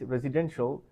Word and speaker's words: residential: We have to stress the third syllable. Residential.